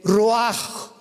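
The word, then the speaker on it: רוח: Y exhaló Isaac el roach. Apúntalo como suena. R u a c h. El roaj, que la palabra hebrea para espíritu.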